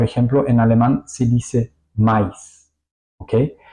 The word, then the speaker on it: Mais: Aquí vamos a ver un ejemplo muy bueno, como por ejemplo en alemán se dice mais, ¿ok? Vamos a pronunciar la A y la I juntos, mais.